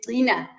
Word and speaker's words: qina: upset with me because the proper pronunciation is Qina with a t sound in Zulu. But we pronounce it as Kina because we know that's internationally probably easy to remember.